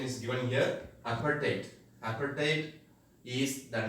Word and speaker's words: apartheid: So the pronunciation is given here, apartheid.